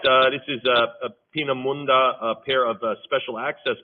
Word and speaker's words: Peenemünde: How do you pronounce that again? It's Peenemünde.